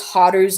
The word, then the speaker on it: Haru: Plus, Haru rhymes with Paru, like the creator.